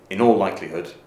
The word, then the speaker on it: in all likelihood: next World Cup but in all likelihood they won't do very well in is pronounced very softly and very quickly and the stress is on all so in all likelihood they won't do very